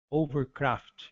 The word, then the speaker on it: hovercraft: Mesmo em estrangeirismo, o H também é mudo. Ou nós falamos, por exemplo, overcraft e não hovercraft.